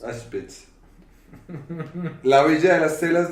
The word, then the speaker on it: Auschwitz: ¿Cómo se pronuncia, Pedro? Auschwitz. Auschwitz.